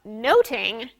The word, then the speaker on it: nothing: except in Shakespeare's day much ado about nothing had two pronunciations and it's the second one that's important we'll talk about much to do about noting right after the break